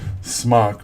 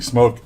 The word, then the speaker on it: SMOK: I hear some of the British reviewers pronounce it Smock, but I don't think that's the intent. I think it's intended to be Smoke.